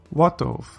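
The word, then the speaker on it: וָטוֹב: And when the first syllable of a word is accented or stressed, then the vowel underneath the vav becomes a kametz. Tov, good, becomes watov, and good.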